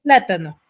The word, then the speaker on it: plátano: antepenúltima por sílaba sílaba Cuántas sílabas tiene la palabra plátano tres muy bien en cuál de las sílabas recae la mayor fuerza de voz en la pla en